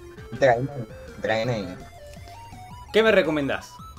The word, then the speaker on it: Draenei: Tenemos humano, enano, elfo de la noche, un gnomo o un ¿cómo se pronuncia? Draenei. Draenei.